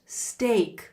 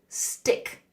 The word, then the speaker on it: steak: And pronunciation wise, steak is pronounced steak like stay. Steak. It's a common mistake for students to stay students to say stick.